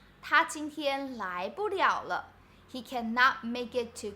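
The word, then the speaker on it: 了: party in this sentence the first character is pronounced liao right so it's like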